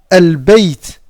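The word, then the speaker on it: البيت: Par exemple ici, al-bayt. Al-bayt. Ici, on va prononcer le lam ici.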